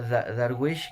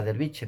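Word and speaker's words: درويش: En árabe no se dice ahora derviche, ¿no? Darwish, ¿no?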